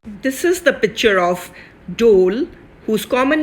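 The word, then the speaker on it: dhole: able to see one dole moving to and fro right in front of you in a few minutes these three dolls are siblings and dol is pronounced as dole although this it spells d-h-o-l-e and the scientific name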